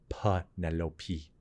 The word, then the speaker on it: Penelope: It's a strong P sound with the Ch sound, very strong name. And there was like a nice melodic flow with Penelope being a 4-syllable name, Penelope.